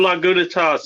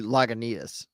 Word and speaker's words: Lagunitas: not lagging as well or laguna toss if that's how it's actually pronounced i don't know well no it's actually lagunitas okay okay so i